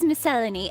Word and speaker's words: miscellany: statue for example ah the British pronunciation is miscellany anyway well sometimes you